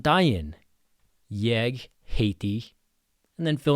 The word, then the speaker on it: daginn: Important thing with daginn is the g sounds like a y. When g is between a and i you make it sound like a y. So daginn, not daggin.